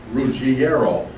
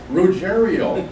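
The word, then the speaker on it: Ruggiero: I'm ashamed of you you should know it's pronounced rero and I said you know what Bob you know that I know that but unfortunately the rerio family doesn't know that and for years they pronounced it rerio I said I know them they have a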